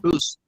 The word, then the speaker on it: Booz: I think the pronunciation is Booz. Is that the last name? Is that correct, Julia? Booz? Boost. Yeah. Booz.